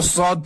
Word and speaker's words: ص: کے بعد ہے صاد۔ عموماً لوگ اس کو سین پڑھتے ہیں اور اس کو صاد پڑھتے ہیں، تو ان دونوں کی سیٹی تو ہلکی سے نکلتی ہے، مگر یہ صاد ہے اور سین۔ جیسے صراط المستقیم ہے